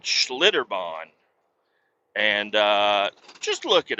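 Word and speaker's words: Schlitterbahn: I guess it's Schlitterbon. That's an S and a C and a H. Schlitter. Schlitterbon. And bon is b a u g- hn bawn.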